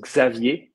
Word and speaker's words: Xavier: afternoon so i'm xavier it's technically pronounced xavier in french but i'll answer to